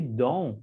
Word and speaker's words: don't: Novamente, we don't like, eu não explodo a letra T no final na pronúncia.